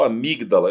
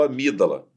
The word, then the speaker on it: amígdala: E amígdala, eu não conto o G. Tá certo? Eu não falo amígdala, eu falo amígdala.